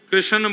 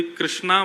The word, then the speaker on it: कृष्ण: बंधुओं कई लोग इस नाम को अशुद्ध बोलते हैं, कई लोग कृष्ण बोलते हैं, कई लोग कृष्ण बोलते हैं, कोई कृष्णा बोलता है। भगवान का नाम शुद्ध उच्चारण करो। नाम क्या है? कृष्ण, भगवान, जय श्री कृष्ण।